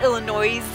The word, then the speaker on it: Illinois: other co-worker would say Illinois's you know how Illinois is Illinois S is silent while she was a